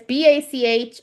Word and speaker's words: Bachrach: But I like Bachrock. Backrach. If Bach that's if I'm saying it right. I'm assuming I am. It's Bachrach. yeah.